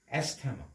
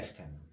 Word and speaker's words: asthma: But this pronunciation is wrong. A pronunciation to full. Yet TH দুটা alphabet silent হৈ আছে. T and H is silent here. We can pronounce T and H. So the correct pronunciation is asthma. ASMA, asthma.